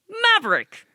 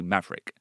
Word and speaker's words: Maverick: Yeah, we don't pronounce the VER. Like library.